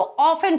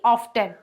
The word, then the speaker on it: often: तो ऑफन पढ़ा जाता है, ना कि ऑफ्टन।